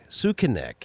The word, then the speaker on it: Sukinek: Sukinek is how you pronounce it. He sent me a pronunciation.